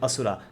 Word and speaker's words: Asura: On to the next one though, you have Indra and Asura. Yeah, I'm not sure how other people pronounce this, but in India it's Indra and Asura.